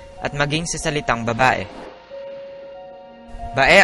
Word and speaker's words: Bae: Bae ang tawag noon ng mga katutubo rito, na mali naman na bigkas ng mga Kastila bilang Bai.